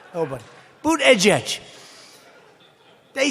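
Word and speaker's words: Buttigieg: edge booed edge edge they said think of it as boot and then edge edge because nobody can pronounce this guy's name oh but boot edge edge they say boo dead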